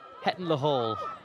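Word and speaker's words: Hetton-le-Hole: He was born in Heton La Hall, which is how the locals say it.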